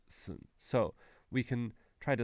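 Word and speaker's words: 寸: In Chinese is pronounced sun, but in Japanese we pronounced it sun. And it means it's a little bit more than an inch long. But it's pronounced, more importantly, it's pronounced sun.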